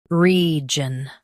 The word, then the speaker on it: region: shown on the screen, region. Both US and UK have the same pronunciation of this word, region. Now read the syllables shown on the screen naturally. Region, region. Emphasize re and keep jun light.